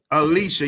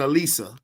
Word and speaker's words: Alicia: Can I pronounce it right? Alicia? Alicia. You said Elisa.